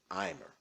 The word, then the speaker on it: omer: In the Bible, it's called an imer. It might be spelled omer in your King James Bible, but it's actually properly pronounced imer.